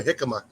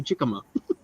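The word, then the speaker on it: jícama: It's got a J in the front. I want to say jicama. Right. The thing is, it's a Spanish Spanish pronunciation.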